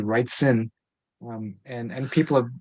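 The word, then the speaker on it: Wrightson: Bernie writes and and like for whatever weird reason I always mispronounce his last name. Um I always say Bernie Writen instead of Bernie Writson.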